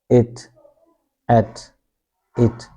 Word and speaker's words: etc.: And here E is pronounced, E and T are pronounced as at, at, at, at. But Americans say it, it, at, it, and then C gives cetera, cetera, cetera.